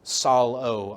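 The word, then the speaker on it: ψάλλω: And this is from the Greek word psallo. I gave the pronunciation there for all you non-Greek folks.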